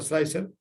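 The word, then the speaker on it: Slic3r: Hay otro que es el Prusa Slicer. Vamos a ver si comparto acá la pantallita. Los software que hacen el feteado, está el slicer, se escribe raro, se escribe Slick 3R.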